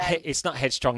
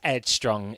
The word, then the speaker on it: Ed Strong: Ed Strong, spelled like the mum's name. Yeah. So it's not Headstrong, it's Ed Strong, ED Strong.